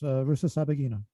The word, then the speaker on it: Rusesabagina: You're gonna have to tell me Paul Rusesabagina. How do you say his last name? Very, very close. Rusesabagina.